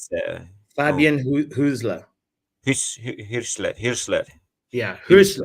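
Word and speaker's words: Hürzeler: Yeah, Hirschler. Husler. Is that how you say it? Yeah, Husler. yeah, well, it's a U with the two dots. I think Okay. they pronounce it Y. So Hirschler.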